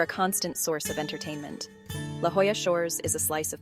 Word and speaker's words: La Jolla: First up is commonly mispronounced La Jolla, but the correct pronunciation is La Jolla.